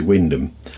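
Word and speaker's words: Wymondham: to say Norfolk place-names Stuart lives in why mundum that's how is spelt but it's actually Wyndham yeah not the road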